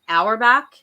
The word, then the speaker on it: Auerbach: lloyd correct me if i say your last name wrong hour back that's right yay okay good so lloyd auerbach